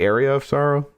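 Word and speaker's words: Aria of Sorrow: you're supposed to say what did I say area of Sorrow you said it right areola areola I'm sorry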